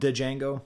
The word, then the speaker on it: Django: Evil feel like I'm Django the D is silent in Django as one of my children would tell you from yard featuring Skil